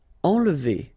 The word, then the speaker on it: enlever: Enlever. Okay, nasal here, en, and then don't insist on this here.